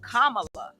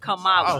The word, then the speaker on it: Kamala: and Uncle Bryan says her name is Kamala not Kamala excuse me you always